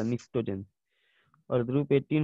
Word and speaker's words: pnictogen: PNICTOGEN, P silent क्या था, निक्टोजेन।